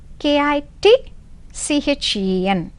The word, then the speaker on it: kitchen: is silent here p cupboard of a kitchen k i t c h e n kitchen so which letter is silent t you can refer dictionary you can